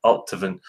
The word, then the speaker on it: Allt-a-Bhainne: Allt-a-Bhainne, like a soft V instead of the BH, but I'm not sure if that's correct or not.